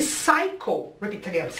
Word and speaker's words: psycho: aquilo lá é quem mata um matador e saikô site eu quero chamar atenção porque o site